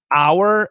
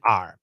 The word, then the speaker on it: our: is the pronunciation yeah our has two pronunciations our and are those are the two pronunciations uh and we study and almost always it's r almost always it's our r even in the song